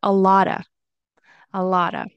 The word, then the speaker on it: a lot of: Next, you'll hear instead of a lot of, which you can definitely say, you might hear a lotta instead of a lot of, a lotta.